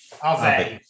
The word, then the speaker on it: Arve: Is it Ave or Arv? I never know how to pronounce it. Arve.